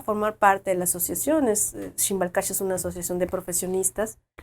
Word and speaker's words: X'iimbal: página de Facebook, es tal cual, Shimbal Cash. Estamos así. ¿Cómo se escribe Shimbal Cash?